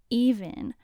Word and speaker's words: EVNNE: up now we're gonna talk about even which is spelled e-v-n-n-e and they made their